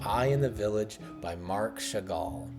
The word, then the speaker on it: Marc Chagall: So, this next painting that we're going to take a look at is called I and the Village by Marc Chagall. I'm pretty sure that's how you pronounce his name.